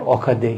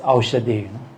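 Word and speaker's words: औषधि: Then later on, I realized not Okade, it's Aushade, because in Aushade in Nepali and Indian means medicine.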